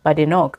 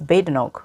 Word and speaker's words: Badenoch: I mean, I've been going on saying Badenoch, but it's Badenoch from what I've been hearing.